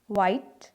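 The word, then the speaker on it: white: तो देखिए जब डब्ल्यू और एच एक साथ आएंगे तो एच यहाँ पे साइलेंट है। जैसे वाई, नॉट वाई, वाई, वाइट, well. इसमें बहुत ही हल्की सी एच की आवाज़ आएगी, बिल्कुल ही हल्की सी।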